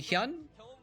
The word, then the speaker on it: HyuN: hyun um which uh his name is actually hyun uh not human i think i probably pronounced it hewn in the past but now that i know how to pronounce korean i can look at his korean name and it is actually so there you go his